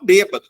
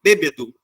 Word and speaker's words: bêbedo: típica do flocos né todo mundo fala bêbado quem bebe fica embriagado tá bêbado Só que também é correto bêbedo E aí quando uma